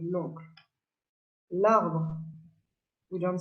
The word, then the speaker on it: l'oncle: Le and la become L apostrophe in front of a vowel or a H, like a mute H. For example, l'oncle. We don't say le oncle, we say l'oncle.